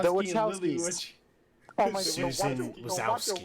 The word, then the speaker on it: Wachowski: Lana Wachowski. The And Lily Wachowskis.